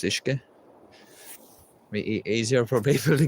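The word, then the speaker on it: uisce: that play on the Irish word for water, which is Ishke, which is spelled U-I-S-C-E. That's Ishke.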